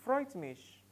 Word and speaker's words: freut mich: you how to say please to meet you freut mich let's take it together freut mich freut mich freut mich pronounce with me pronounce alongside Freud's mich Freud's